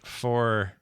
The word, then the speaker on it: Forza: Forza 5 is Why do you Horizon say 5 is my Forza? favorite. It's Forza. That's how you say it. You say it like with a T.